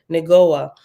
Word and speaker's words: Negoah: And number 6 at the bottom says, Negoah is pronounced Neg, Neg-O-Ha, H-A-H, Negoah, and means brightness, as in brilliant light.